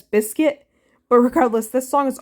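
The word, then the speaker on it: Bizkit: while to realize that it's probably meant to be pronounced as biscuit but regardless this song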